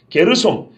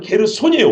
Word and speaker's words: 게르손: 게르솜, 게르솜 하면 모세의 아들인데 발음이 잘못된 거고요. 레위의 첫째 아들은 게르손이에요. 원래 게르손. 발음이 약간씩 차이가 있습니다.